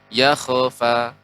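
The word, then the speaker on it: يخفى: Jangan sampai juga yakhfa. Ya, tadi terkesan sedikit memantul.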